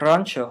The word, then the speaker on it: rancho: with a double r the word rancho has a trilled r2 you know this because it's at